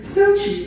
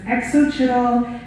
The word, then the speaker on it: Xochitl: like, that's cheesy, in hopes of overstepping awkward pronunciations such as exochitl, exochitl, and. But even with the overly simplistic pronunciation, I still got the annoying and the absolutely intolerable, and I said -chi because if I introduced myself as Xochitl, well-meaning people tended to say chill or that's chill, like you're chill.